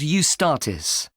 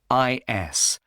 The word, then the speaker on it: Eustatis: The next day, the 18th, there's a performance by a ballet company called Eustatis. Sorry? The name is spelled E-U-S-T-A-T-I-S. Tatis.